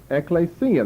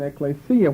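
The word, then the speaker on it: ἐκκλησία: ought to recognize what's that word mean Ecclesia Ecclesia that's the right pronunciation Ecclesia what's that mean assembly right that's the word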